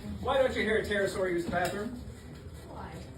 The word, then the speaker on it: pterosaur: Why don't you hear a pterosaur use the bathroom? Why? The P is silent.